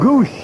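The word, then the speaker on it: Gwosdz: G WS DZ is the spelling, but it's pronounced goose.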